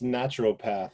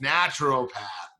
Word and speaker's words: naturopath: beforehand and you're like it's that extra syllable in there it's natural path naturopath naturopathic doctor she's a